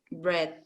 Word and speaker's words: breathe: if you are breathing short breath, stay focused on your breath and remind yourself that you can control how you breathe.